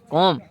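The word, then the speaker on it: comb: बी आ रहा है बी को हम नहीं पढ़ेंगे क्योंकि यह साइलेंट हो जाता है तो इसको हम पढ़ेंगे कोम इसी में बी साइलेंट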